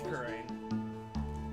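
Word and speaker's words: Kurain: Are we pronouncing it Crane or Kran? Right? I think we did Kran at one point. Yeah, I think we did it because we had no idea what it was the actual pronunciation. It's Crane. It is Crane?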